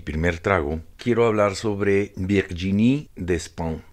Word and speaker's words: Virginie Despentes: trago quiero hablar sobre virginie de spam creo que así se pronuncia en todo caso se escribe virginie despentes una escritora francesa que